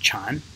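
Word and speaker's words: 蝉: actually means cicada and it's pronounced chan in mandarin and that looks like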